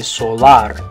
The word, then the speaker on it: solar: In English, you'd say solar. Okay, now the A and the letter A is the part that makes a different sound though in Spanish. So in English, we say solar, but in Spanish, the A makes an ah sound, so you're going to say solar.